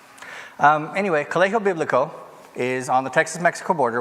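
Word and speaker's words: Colegio Bíblico: Colegio Biblico. It's spelled like college, but you don't pronounce the G, you make it an H sound.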